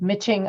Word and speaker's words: miching: Philadelphia can you give us the spelling of mitching our word of the week it is spelled m-i-c-h-i-n-g and it's a 16th century word